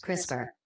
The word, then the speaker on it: CRISPR: regularly interspaced short palindromic repeats crisper pronounced crisper broke erotic DNA containing